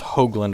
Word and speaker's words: Hoogland: in Central Illinois uh last name is pronounced hogland with a long o the problem is reflector